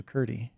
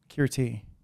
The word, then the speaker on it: Kirti: I first met you ctie that is not how you say my name kirti okay karate all right